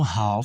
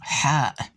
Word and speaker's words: ح: From here till here, get back, a low half circle. One more time. Again. One more time. Very good. This is the letter Ha, not Ha. Okay?